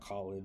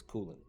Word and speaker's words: Kulin: First of all, it's not Cullen, it's not Colin, it's not Kulin, it's Kulin.